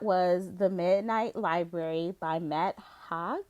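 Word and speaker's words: Matt Haig: the midnight library by matt hogg is how you say his name hey hey i think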